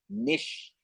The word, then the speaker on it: niche: what I call my niche now what is Niche and if you probably differ different pronunciation some people call it niche so let me say